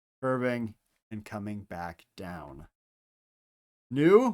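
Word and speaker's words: ν: New which is not a v sound. It is an in sound.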